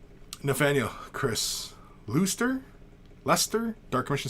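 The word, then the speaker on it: Leicester: family member less no fan yo Chris rooster Lester dark mission says Lester Joe Lewis says Lester then Chris God Lester it's pronounced okay and Ruth Cooke says it crowns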